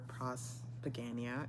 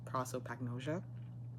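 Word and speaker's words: prosopagnosia: Turns out it was never prospagania. It was um proopagnosia.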